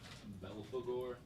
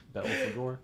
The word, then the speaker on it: Belphegor: Belphegor. Belphegor.